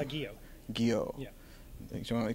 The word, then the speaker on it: Guillot: good all right well now that you said it I got a shot but before I would have said gilot so I'm bad at